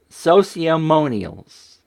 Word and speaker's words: Sociamonials: Sociamonial, like testimonials, right? Monials. Sociamonials.